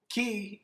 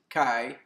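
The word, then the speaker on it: qi: astrological sign of leo key energy or some pronounce it chi energy is the energy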